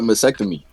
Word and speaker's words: mastectomy: He fucked up mastectomy. He fucked that word. Yeah, but nobody. What? How do you pronounce it? How do you say it? Mastectomy. He missed the T.